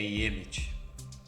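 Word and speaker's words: אמת: Sua pronúncia é Yemet.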